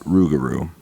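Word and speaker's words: Rougarou: could find was old Legends of the rugaru which is pronounced ruguru I told my grandpa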